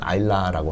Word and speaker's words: Islay: 있는 굉장히 작은 섬입니다 그래서 아일레이라고 이렇게 islay라고 쓰긴 하는데 그 현지 발음은 아일라라고 하고요 그래서 아일레이는 그 하루키